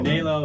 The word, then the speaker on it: Anhelo: Anhelo and hello. And hello. Just show up. And hello. So, we're trying to pronounce the name of a restaurant that's pretty darn good.